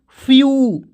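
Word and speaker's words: few: इस तरह से जैसे एफ से होता है आधा फ एफ से क्या होता है आधा फ और डब्लू आएगा तो इसको उच्चारण यू के रूप में तो क्या हो जाएगा दोस्तों फ्यू जैसे एन ई डब् यहां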